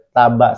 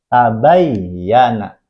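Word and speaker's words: تَبَيَّنَ: Ini huruf ba, ada huruf ya bertasydid, maka dibacanya tidak boleh taba saja, tapi tabayyana. Ditempel bayinya ke huruf ya, kemudian harakatnya apa?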